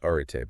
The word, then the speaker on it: Arete: So just starting with the name Areete, pronounced Arite, by the way.